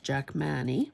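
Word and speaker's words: Jackmanii: to say it but I say Jack Manny because it's got a double eye um clematis so I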